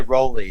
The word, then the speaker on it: Raleigh: that right away yeah a lot of people say rolly too but uh raleigh like uh like north carolina what did i say